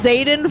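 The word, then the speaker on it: Xaden: oh excuse me like Z is Zaden fine am I pronouncing the X like a z that's correct you got that one somehow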